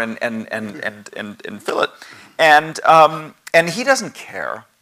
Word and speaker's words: fillet: chamfer and and and fill it and things like that and these are kind it's not fully it's not fillet right the same way we